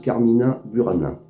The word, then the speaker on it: Carmina Burana: In taberna, c'est un texte issu du recueil des moins Goliard, recueil qui apporte titre Carmina Bourana et que l'on prononce dans le nord de la France, Carmina Burana.